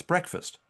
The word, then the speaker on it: breakfast: It's breakfast, but you pronounce it wrong. It's break fast. Breakf fast is really what it should be.